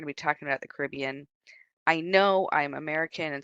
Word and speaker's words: Caribbean: be talking about the Caribbean I know I'm American and so I pronounce it all crazy and different uh it's not it's not Caribbean over here it's the Caribbean but I it's engrained